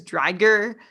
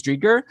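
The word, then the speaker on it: Driedger: knight chris drager uh correct me if i'm saying his name wrong well i'm not gonna correct you on that but i think you are it's chris drieger but i'm gonna correct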